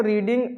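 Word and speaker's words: read: form क्या होता है आर ई ए D spelling वही रहते है लेकिन इसको पढ़ते क्या है रेड आर ई ए डी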